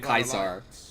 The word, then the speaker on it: Caesar: guy with the legion who doesn't say it kaisar in exchange for Great Caesar's promise of all